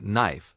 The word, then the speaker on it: knife: For example, kaka is often silent before N at the beginning of a word like knife or night.